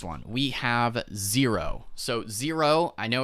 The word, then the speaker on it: Xero: we have zero so zero i know it's it sounds like z-e-r-o but it's actually spelled x-e-r-o so it's x-e-r-o is zero it's pronounced zero even though it's like xero you know don't ask